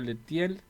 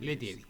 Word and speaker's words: Lettieri: a los amigos Alberto Alberto leel no no se pronuncia así letier este Es doctor en